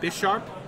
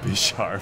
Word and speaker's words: Bisharp: someone just asked for the pronunciation of Bisharp. So let's just go down the line and say what it is. Hey, no. It's Bisharp. I know that's UN. Bisharp. Bisharp. Bisharp. Bisharp. Alex? Be sharp.